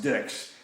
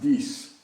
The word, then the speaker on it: dix: French is di X which actually is not pronounced dicks it's pronounced dese but the folks down